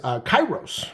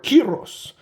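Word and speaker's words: καιρός: So what kind of time we're talking about here is kairos or kiros, however you want to pronounce it.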